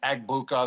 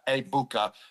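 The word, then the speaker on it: Egbuka: I'm going to go with I've been saying Ebuka the whole time I was on Fox for the first two weeks, but now everyone told me the G is silent. So, Amecha. Abuka.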